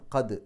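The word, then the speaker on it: قَدْ: എന്ന് തന്നെയാണ് പറയാക അവിടെ ദാലിന് സുക്കൂന് കൽക്കലത്തിന്റെ അക്ഷരമാണ് എടുത്തു പറയണം കദ് എന്നുള്ള ആ ഒരു ശബ്ദം പുറത്തേക്ക് കേൾക്കണം സിന്റെ മുമ്പ് സുക്കൂ നൂ വന്നു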